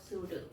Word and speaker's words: pseudo: Meaning of pseudo. See the spelling and pronunciation. Okay, it is pseudo.